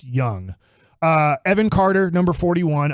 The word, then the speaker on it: Jung: was quickly told no it's pronounced just like Michael Young okay I know that yeah so if you're wondering even though it spelled Jung it is pronounced young uh Evan Carter number